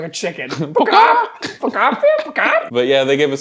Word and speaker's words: Pokopia: Utopia, but Pokemon. Pokopia. So it's Pokopia. It sounds like I'm barking like a chicken. Pokopia.